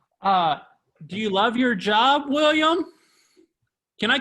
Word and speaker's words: William: The H is silent though. Oh, dang it. So do I put a line over it or something like that? No, you just say it, William, but without the H.